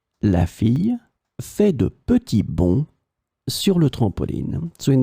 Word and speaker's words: bonds: the plural form because we don't pronounce the final S. It will be exactly the same pronunciation, bon. De petits bonds.